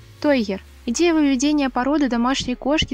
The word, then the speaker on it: тойгер: Тойгер или игрушечный тигр от английского слова той – игрушка, и тайгер – тигр. Есть распространенная ошибка в произношении названия породы. Кто-то называет ее тайгер, но правильно называется именно тойгер.